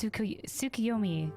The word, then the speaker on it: Tsukuyomi: It's pronounced Tsukuyomi, correct?